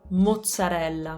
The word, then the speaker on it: mozzarella: it for longer so as for the double consonant on the zeds to make that double consonant we just have to make a little pause almost like a glottal stop mozzarella mozzarella there's a like a